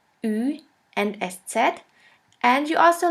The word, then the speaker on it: Ü: The last umlaut is Ü, Ü, or U umlaut. For this letter, there is no equivalent in English.